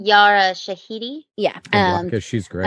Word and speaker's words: Yara Shahidi: tinkerbell what's how do you say our name yara shahidi yeah um because she's great i feel that